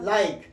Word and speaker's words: like: اصلا نه تلفظ کېږي یا لایک په لایک کې تاسو ګورئ ال پکې بې اوازه ده کې پکې بې اوازه ده آی او ای پکې اواز لرونکي دي دا دواړه نو ما تاسو ته ویلې که چېرته یو کلمه دغسې وي او په ای باندې خلاصېږي نو هغه ای نه تلفظ کېږي لکه دا موږ تاسو